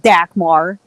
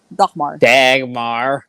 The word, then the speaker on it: Dagmar: Thanks, Dagmar. Sorry. that's how you say her name. I'm sorry. It's not Dagmar. Dagmar.